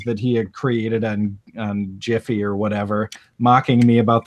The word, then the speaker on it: GIF: But did you say Jiffy?